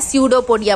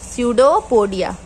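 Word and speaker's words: pseudopodia: अब यहाँ पे पी साइलेंट है, पी को लेके नहीं चलना है, पी को हम लोग उच्चारण नहीं करते हैं, स्यूडोपोडिया पढ़ेंगे, स्यूडोपोडिया।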